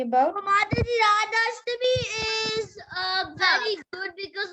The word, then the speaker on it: Radhashtami: What was Radhashtami about? Mataji, Radhashtami is very good because like Radharani is getting born. Appearance of Radharani, right? Mataji, it's birthday of Radharani. It's just like it rhymes in like Janmashtami.